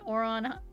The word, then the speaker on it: Ouran: I watched at the time I remember I watched Ouran High School Host Club.